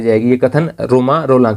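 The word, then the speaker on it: Romain Rolland: One with universal being, रोमा रोलां। हालांकि देखिए spelling इस प्रकार से है, लेकिन फ्रेंच में उच्चारण ऐसा ही होता है।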